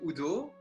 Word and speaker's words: Udo: C'est un nom allemand, donc normalement on doit le prononcer Udo, mais il y a beaucoup de gens en Flandre qui disent Udo, mais n'importe.